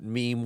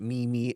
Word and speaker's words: meme: really started knowing what meme was and they weren't pronouncing it memi anymore right like your grandmother